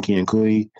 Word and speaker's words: Kiankui: Armin Kiankui.